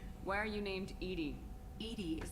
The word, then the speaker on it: EDI: are you named Edie Edie is the phonetic pronunciation of EDI that is an acronym for enhanced defense intelligence foreign where are you